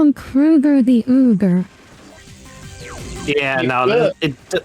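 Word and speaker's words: Kroeger: Kroger from uh Nickelback wasn't actually pronounced Kroger his name's pronounced Krueger oh too late now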